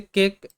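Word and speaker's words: cake: এরকম শব্দ যেমন রয়েছে কেক, সি এ কে ই কেক, বিষয়টা খুবই ইজি।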